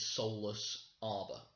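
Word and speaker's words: Solace Arbor: weird i know it's it is soulless arbor but when i say it to the group it'll be sola bar almost like it's one word and that again keeps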